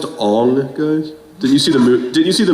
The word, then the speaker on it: Aang: It's pronounced Aang, guys.